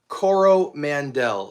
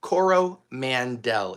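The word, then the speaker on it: Coromandel: Chanel Cororo Mandel. C O R O M A N D E L. Cororo Mandel. Exactly how it sounds.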